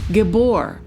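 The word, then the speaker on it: גִּבּוֹר: So in Hebrew, mighty one is pronounced gabbor.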